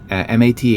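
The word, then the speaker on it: Matheson: written by Richard Mat, M A T H E S O N, Mat Mathematics, Mat.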